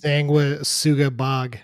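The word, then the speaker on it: Sanguisuga Bogg: just call bog because I don't think that we're pronouncing that right but it is it's Sanga Suga bog I saw a video showing how to pronounce it because I didn't know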